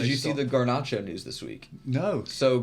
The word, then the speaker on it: Garnacho: How do Get you over pronounce it. his name? Garnacho.